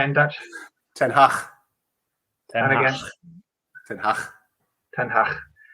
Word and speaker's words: Ten Hag: Ten Hag.